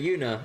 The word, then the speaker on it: Yuna: I pronounced it Juna just because I just read it as is. But then when she introduced herself, I still mispronounced it. I was like, okay, Yuna.